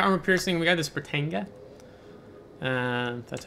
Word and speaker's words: Britannia: We got this Britannia. That's how you pronounce that name of the ship.